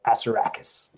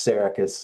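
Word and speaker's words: Assaracus: Uh, the correct pronunciation out of my mouth is emphasis on the first syllable, Asarakis. That's not really how you're supposed to pronounce the word. It's Saracus in Greek mythology, but in my language, it's Asarakis because I love making librarians say that.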